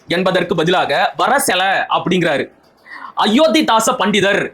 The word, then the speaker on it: அயோத்திதாச பண்டிதர்: அயோத்திதாச பண்டிதர் என்பதற்கு பதிலாக அயோதாச பண்டிதர் அப்படிங்கிறாரு.